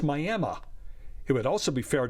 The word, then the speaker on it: Miami: county seat of tiny Roberts County Texas is pronounced Miami it would also be fair to pronounce it